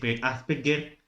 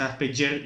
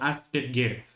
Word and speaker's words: Asperger: psiquiatra llamado Hans Asperger, que es Asperger, que no se dice Asperger ni Asperger, sino Asperger, porque es un apellido austriaco alemán, que es un médico psiquiatra austriaco de habla alemana, y se desempolvó a